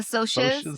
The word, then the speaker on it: Socs: The Soches and the greasers.